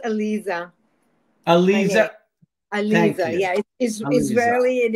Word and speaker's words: Aliza: worldwide it is my distinct pleasure to welcome Eliza to the conversations with Allan hello there hi thank you so much for being here it's pronounced Alisa ala ala yeah isely and it means it